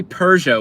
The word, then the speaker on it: Peugeot: do you say it you say Peugeot with an R in it say it out loud do you hear the are there's no R in the word Peugeot your favorite Alfa Romeo